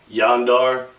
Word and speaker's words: Zandar: by the name of Xandar. Z A N D A R. But it kind of is pronounced when he comes through like Yandar, but it's spelled Xandar.